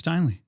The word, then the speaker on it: Steinle: this is James Steinle. Welcome to Waterloo Records. Thanks, man. Yeah. Did I pronounce that right?